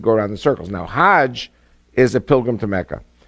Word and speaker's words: Hajj: around the circles now Hajj is a pilgrim to Mecca Haag is the Egyptian pronunciation hug in Hebrew means